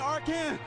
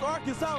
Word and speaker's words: Arkansas: Ain't Arkan. It's Arkansas, baby.